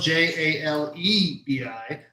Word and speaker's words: jalebi: Okay, so for the jalebi, which is spelled Jalebi, but I went to the pronunciation website because